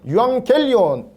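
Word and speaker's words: εὐαγγέλιον: 네네 맞습니다 요식 기메리 요거는 앙 발음 기억 발음 요렇게 됩니다 두 개가 같이 동시에 있으면은 이형과 기억 발음으로 어 분리됩니다 그래서 어 유리음 음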